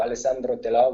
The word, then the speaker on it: Alessandro Telò: So Alessandro Telò with an accent on the O.